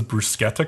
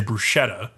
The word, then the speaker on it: bruschetta: But it's actually funny because like a lot of Americans, even Italian Americans, will say bruschetta, which is incorrect. It is not the right way to say it.